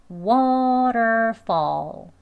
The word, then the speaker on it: waterfall: 여기가 waterfall, fall로 들린다고 해서 waterfall, fall라고 발음을 하시면 안 돼요. waterfall. 자연스럽게 발음, 어 소리는 하면서 소리를 약하게 해서 어 하는 겁니다. 예, 설명드렸죠. 강조해서 알려드리는 거예요. 아예 안 들린다고 해서 그냥 waterfall, fall, fall라고 발음하진 않으셨으면 좋겠습니다.